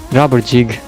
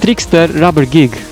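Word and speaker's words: Trickster Rubbergig: beginning was trickster rubbery rubber jig it's pronounced trickster rubber gig not jig but anyways trickster rubber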